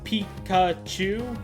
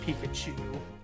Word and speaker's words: Pikachu: this is important okay it's made of five characters Pikachu it is piki small o small U and large and a big oo the big ooh is just to indicate a long a long vowel so it's still three uh syllable it's more like four syllables but it's three syllables it's Pikachu but I said there's five